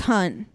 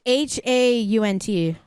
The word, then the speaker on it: Haunt: You said it's just called Hunt? Yeah, it's Hunt. I can't even find it on Letterboxd. It's Haunt. Haunt, okay. Yeah, Haunt. I guess I said it wrong.